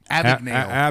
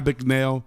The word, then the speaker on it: Abagnale: Abagnale. Abagnale.